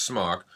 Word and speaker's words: SMOK: fans who pointed out that smock it is pronounced smock is a polish word i believe it's polish